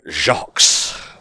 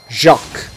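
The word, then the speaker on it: Jacques: boss of the world jacque's or just junk because in French you don't pronounce the S at the end of almost anything I don't trust your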